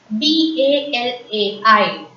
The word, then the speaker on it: balai: B-A-L-A-I is pronounced as balai. Repeat. Balai. A as usual in French is pronounced as A. I is pronounced as E. So, balai.